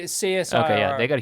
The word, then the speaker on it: CSIRO: do you say it do you say say seus okay yeah they got a huge payout because